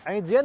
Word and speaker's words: Indienne: Indienne, oui, prononcée à la française.